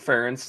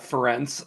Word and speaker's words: Ferentz: First of all, good job saying Kirk Ferentz, not Ferentz, as people oftentimes mispronounce it.